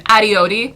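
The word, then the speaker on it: Adiyodi: First of all, putting Quentin on my hit list once more, just for good measure, he doesn't know how to pronounce Penny's last name. Adioti, by the way.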